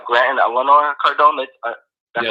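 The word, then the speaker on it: Elena: I like how Grant and Eleanor Cardone, that's yes.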